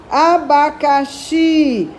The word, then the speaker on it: abacaxi: é uma palavra proparoxítona o abacaxi Qual é a mais forte a última ti então ela é uma